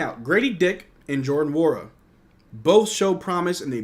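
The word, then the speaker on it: Nwora: I learned yesterday that Wara is pronounced Wara. Yeah, I was pronouncing the N Nawara. No Wara. It's Wara.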